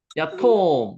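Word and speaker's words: יתום: 야톰, 요거 야톰이라고 읽고요.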